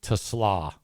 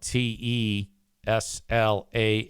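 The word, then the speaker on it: TeSlaa: It is Tusla. Isaac Tusla is officially how you pronounce that guy's name. It's spelled T E S L A A capital T lowercase E capital S L A. So people were like Tesla Tesla.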